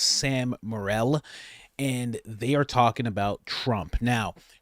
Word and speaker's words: Sam Morril: I believe his name is pronounced Sam Morril, and they are talking about Trump.